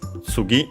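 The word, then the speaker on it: 次: First and foremost, sugi which means next. Check its accent should be on the last syllable.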